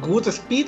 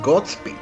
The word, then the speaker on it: Godspeed: Bueno, solo a manera de curiosidad, ¿pronuncias Goodspeed o Godspeed? Que yo tengo entendido ese Godspeed. Bueno, es que creo que es con una O, ¿no? De God. Sí, es Godspeed.